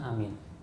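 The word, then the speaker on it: آمين: amin Hai Amin ya cara membacanya adalah A itu dua ketuk mint itu bisa sampai 6 ketuk Amin begitu oh ya ada kesalahan pengucapan ada orang begini amin amin soalnya sebab kalau Amin itu artinya orang yang amanah Oh ya Ada juga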